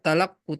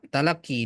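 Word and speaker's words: تلقّي: Ya, harusnya talakku, tapi karena ada ya itu ya. Ya, talak jadinya talaki dibacanya.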